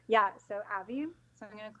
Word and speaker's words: Avi: You pronounce her name Avi because it rhymes with Savvy. Yeah, so Avi.